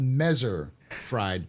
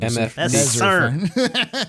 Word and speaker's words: Messer: No, it's called Mezzer fried Tevarin. Okay, that's what it is. Mezzer fried. Messer. Fuck off. 2 S's. Messer.